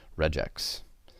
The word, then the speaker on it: regex: This is a common abbreviation for a regular expression, usually pronounced regex.